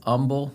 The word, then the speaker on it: Humble: So, let's get into it and we'll just bring a little correction cuz it is umble, Texas, which the H is silent.